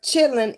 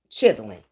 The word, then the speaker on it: chitlin: and roll and blues the word chilling is probably um a original pronunciation I'm going say it like that of the more proper word which I've said before which was chitling oh y'all better have